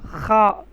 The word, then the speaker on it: خ: خا کا خا اس کا تلفظ ہے خا.